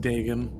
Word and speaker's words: Dagon: You know, the Dagon on, Dagon on, It's pronounced Dagon.